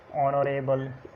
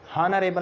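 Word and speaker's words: honourable: इसी तरह ऑनरेबल, हॉनरेबल नहीं होता, ऑनरेबल।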